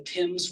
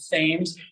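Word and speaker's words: Thames: um at time uh especially a British English pronunciation like the Tims river is not the fames or like this place that looks like it's orchester it's called Worster for example very good say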